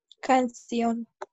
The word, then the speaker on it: canción: La palabra canción lleva el acento en la última sílaba y termina en S. N y N, en N en este caso.